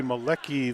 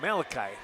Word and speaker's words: Malachi: see Henry brigan and should be Mali Lee I hope I'm pronouncing that right Ken uh Malachi I stand corrected that's a tough